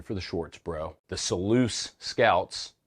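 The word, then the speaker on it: Selous: bro the seleuse scouts I think that's how you say it's so loose I heard a British guy like with a British accent say seleuse and therefore in my mind that's the correct way to say it but I've heard people say like sealless sellless whatever I don't care that's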